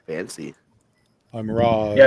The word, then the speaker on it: Raz: I'm Roz. Yeah, it's got 2 syllables now.